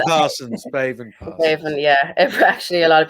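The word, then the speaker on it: Béibhinn: Baven Parsons. Baven, yeah. Actually, a lot of people are asking me how to pronounce that name.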